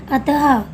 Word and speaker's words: अतः: संज्ञा यानी कि जैसे हमें अतः लिखा होता है तो हम उसका उच्चारण करते हैं। अतः लिखा हुआ तो हम इसका उच्चारण कैसे करते हैं, अतः।